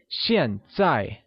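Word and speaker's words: 现在: now becomes shenzhai shinzai uses a falling tone on both a's remember that x carries a sh sound in mandarin can you try saying shin sai very good as we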